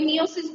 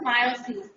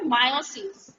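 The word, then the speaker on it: miosis: থাকবে অনেক সময় মায়োসিসকে ভুলে মানে আমিও বলি মিওসিস বলে ফেলি কিন্তু এটা উচ্চারণটা কিন্তু হবে মায়োসিস মিওসিস হলো আমরা যখন সেল ডিভিশনে পড়েছিলাম না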